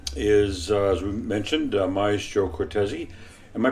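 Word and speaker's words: Cortese: um the conductor is as we mentioned Maestro cortezi am I pronouncing that writers of course that's right of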